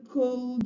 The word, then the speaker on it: could: Remember to tell the child that letter L in those three words is silent. So they are not articulated could, would, should, as some ESLs mispronounce them.